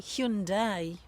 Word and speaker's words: Hyundai: the car brand hyai I think it's supposed to be Hyundai is that really a Hundai it's h h hund